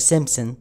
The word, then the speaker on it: Simpsons: تنبؤات مسلسل The Simpsons، طبعا الباء لا تلفظ في The Simpsons، واللي يقول لك حرفيا رعب.